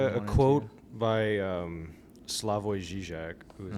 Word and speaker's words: Slavoj Žižek: by Slavoj Žižek, who's like a modern day philosopher and with a runny nose.